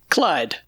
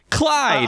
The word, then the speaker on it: Chluaid: it my brain it how is it actually pronounced Clyde Clyde but I really can't hide I don't care